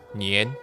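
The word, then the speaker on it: 年: chinese new year ear is pronounced as nien in chinese according to the ancient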